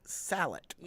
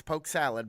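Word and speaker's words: Poke Sallet: poke Festival Sal Poke Salad specific with a tea for some but it's not it's not said with a t yeah it's pronounced salad it's Poke Salad but for some reason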